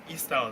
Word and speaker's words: Eistyles: Eistyles, what do you do? Okay, what the problem we're solving with Eistyles, or Eistyles actually, that's how it's pronounced, So the I is silent.